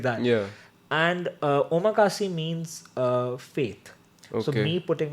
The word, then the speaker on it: omakase: Ikigai is actually an omakase bar.